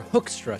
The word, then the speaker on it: Hoekstra: Ambassador to the Netherlands, Pete Hoekstra, or Hoekstra, some people told me after last week's story, is the way that his last name's pronounced.